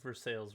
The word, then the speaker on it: Versailles: what no go back i pronounced for sale versailles wrong didn't i versailles french i just offended every frenchman out there i'm sorry but